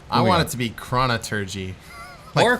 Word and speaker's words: Chronurgy: I want it to be Chronergy. Or Chronergy. Like thaumaturgy. I kind of like that too, but either way, it's Chronergy. Chronergy. Whatever. Hard G.